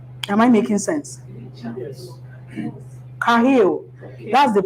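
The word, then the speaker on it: חיל: Kahil. That's the pronunciation.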